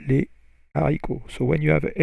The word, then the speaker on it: les haricots: It's like the famous example is les haricots, H-A-R-I-C-O-T-S, the beans. Les haricots, you don't say les haricots, you say les haricots.